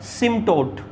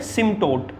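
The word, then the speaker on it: asymptote: तो ऐसी लाइन को हम बोलते हैं सिम्टोट। ए साइलेंट होता है, ऐसी लाइन को बोलते हैं सिम्टोट, ए साइलेंट होता है।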